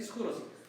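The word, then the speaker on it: Ischyros: But that's how it's supposed to be pronounced. The Greek word is supposed to be Ischuros.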